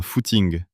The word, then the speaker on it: footing: alors "Je fais un footing." Oui, footing est un mot étrange. Il sonne anglais mais on l'utilise uniquement en France et notre prononciation est unique. On dit le foot ing.